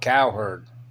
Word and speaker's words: Cowherd: the show is called Cowherd Colin Cowherd Colin coward Colin c-o-l-n but it's pronounced calling the herd calling her so I